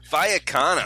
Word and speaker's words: Vallecano: Vallecano.